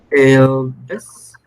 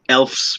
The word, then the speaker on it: elves: Is uh, uh, Elves. Okay, the pronunciation, Jesus, is elves because remember, letter F and letter V, they have the same pronunciation.